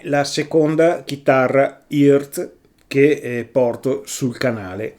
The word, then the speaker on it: EART: Ciao a tutti, questa è la seconda chitarra e che porto sul canale. Mi hanno detto che si pronuncia e io dicevo Earth, non lo so, resta un mistero e la chiameremo e allora questa chitarra, beh,